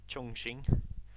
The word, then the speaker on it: Chongqing: Chongqing. That's how you pronounce it. You have to like. It's Chong, yeah. It's like the king. It's a ching, isn't it? That Q sound.